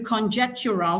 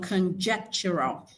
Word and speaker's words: conjectural: Yeah, so that's which is on conjectural. So it retains the stress from conjecture.